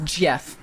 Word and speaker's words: Jif: It's top pronounced it off, Gif. That's Jif.